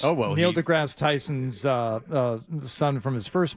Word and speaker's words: DeGrasse: Who is Andre DeGrasse? Oh, well, Neil deGrasse Tyson's son from his first marriage. No, he runs a Canadian high school. Is that right? And you're pronouncing it wrong. It's DeGrasse.